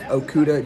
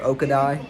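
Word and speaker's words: Okudah: Okuda I said joke I used to call Jeff Okuda Jeff oka died because I didn't understand how to pronounce his last name but they said it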